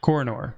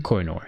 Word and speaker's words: Kohinoor: have this how do you say that Matt coronor coronor Kohinoor yeah that's it and it's pretty much it